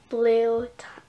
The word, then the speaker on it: Bleu: And also, I'm going to be naming her Genevieve Bleu Thomas. And Bleu, her middle name is spelled B-L-E-U, the French way, which is said bleu, but I'm going to say Bleu.